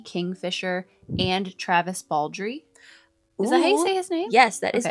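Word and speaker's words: Travis Baldree: Kingfisher and Travis Baldry.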